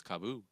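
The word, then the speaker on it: KAABOO: And then if it was 1-0 at the end, it'd be Cabo, but it's double O, so it's Kaboo.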